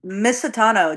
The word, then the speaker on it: Misitano: Miss Satano. Just like literally how it's spelled is how it sounds.